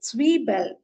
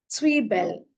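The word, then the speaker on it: Zwiebel: comes onion onion is s Bell s Bell because Z is pronounced as when we combine T and S together it is just like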